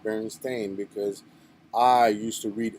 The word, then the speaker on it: Berenstain: So I learned how to pronounce it right, and I remember it was EIN, Berenstein. Now it's AIN, Berenstain.